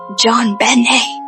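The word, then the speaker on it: JonBenét: Her name was JonBenet Patricia Ramsey, pronounced JonBenet.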